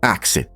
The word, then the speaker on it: ask: Por exemplo, a palavra ask, na verdade era pronunciada como axe.